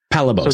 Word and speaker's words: Palabos: I pronounce it Palabos. Palabos. So with the emphasis on the first part of the word.